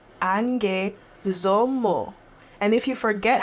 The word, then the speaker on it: Angue Somo: That's Angue Somo. Angue Somo. And if you forget how to pronounce it, you can listen to my song Mayimwa.